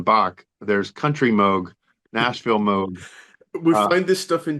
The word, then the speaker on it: Moog: we call Moog records Moog being the wrong pronunciation of Moog but it was all